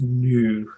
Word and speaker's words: GNU: It's apparently it's pronounced new, so it's a new image manipulation program.